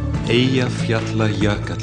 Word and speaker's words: Eyjafjallajökull: So, Daniel, the question everyone wants to ask you is, how do you pronounce the name of that Icelandic volcano? Eyjafjallajökull.